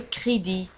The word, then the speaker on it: crédit: ولاحظوا على أن crédit نجد في آخر الكلمة T. Le crédit. Un crédit. De crédit ولكن T لا تنطق.